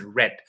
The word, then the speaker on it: read: but in the past it changes only in the pronunciation it becomes red exactly absolutely so it's